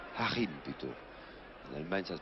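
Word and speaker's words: Joachim: Le numéro 11 allemand, Streich Hakim. Harim plutôt. En Allemagne, ça se prononce Harim.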